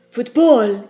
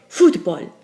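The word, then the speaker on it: fútbol: on the last syllable football is an exciting word isn't it it sounds kind of German but that's not how we say it in espanol in espanol we break the rule and say football so the accent Mark has to be written in I encourage you to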